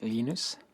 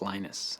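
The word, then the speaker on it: Linus: your preferred pronunciation um when I speak Swedish it's lenus when I speak Finnish it's lenus when I speak English it's lonus and I really don't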